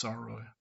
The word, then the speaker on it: Sarao: Sorry, I pronounced his name wrong at first. It's Sarao.